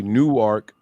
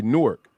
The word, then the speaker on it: Newark: Because I've been to Delaware and they say Newark, Delaware. They say Newark, Delaware. That's but different. When you're in Jersey, they say Newark, Newark, New Jersey. And it's spelled exactly the same.